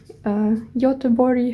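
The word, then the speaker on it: Göteborg: trip to Gothenburg in Sweden Southern Sweden or Yota bori how so it's pronounced it was a four days trip for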